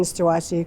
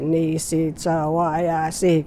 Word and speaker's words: Nisichawayasihk: And as Cree speakers, we had to go syllable by syllable, because when we speak, we have to say it fast. And then, like, you don't say Nisichawayasihk, you go Nisichawayasihk. So, people had a hard time with that.